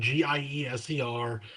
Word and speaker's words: Gieser: The Gieser name, Gieser. You pronounce the second vowel, and then the S is kind of a Z.